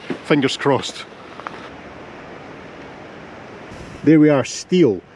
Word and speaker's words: Steall: crossed there we are steel now i have heard that the proper pronunciation for this is style but you can let me know in the comments if that's right the path through the